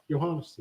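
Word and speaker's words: Johannes: I say it right johannas yeah johannas like Johan y remember Smur yeah yeah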